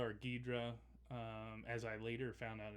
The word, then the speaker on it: Ghidorah: Ghidorah or Ghidra, as I later found out is pronounced.